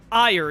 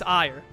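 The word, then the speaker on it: Aegir: No, it's Ire is the last name. It's like A-E-G-I-R. It's an R at the end, not an S, so it's Ire.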